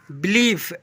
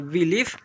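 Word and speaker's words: belief: इसे पढ़ेंगे बिलीफ। ऐसे पढ़ेंगे बिलीफ। अब चलिए यहां पर आई का सेवंथ नंबर उच्चारण देखिएगा।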